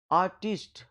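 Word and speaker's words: artist: तो आर्टिस्ट, आर जो है इसमें वो साइलेंट है। आर्टिस्ट, आर्टिस्ट, आर्टिस्ट, आर्टिस्ट, आर्टिस्ट।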